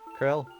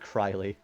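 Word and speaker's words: Krile: Krill. I still don't know how to pronounce that. It's not Kryley and we have the return.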